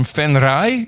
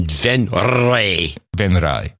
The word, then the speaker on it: Venray: Then we have Danielle Luipers from Venray in the Netherlands, a row of ducks, 222.22.